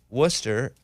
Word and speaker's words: Worcester: Boston near Boston so Worcester is spelled like War Chester yeah yeah like the sauce and if we weren't